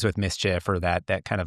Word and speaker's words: MSCHF: If I'm a CMO who um wants to bring in some DNA that that kind of rhymes with mischief or that that kind of like you've been